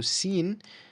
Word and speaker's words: س: Okay, so sin is the same pronunciation as a S in English, right? Same pronunciation, same sound as well.